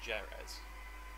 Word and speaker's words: Jerez: Why is Jerez spelled like Jerez? Spanish. Like Jerez. It should be spelled H-E-R-E-F.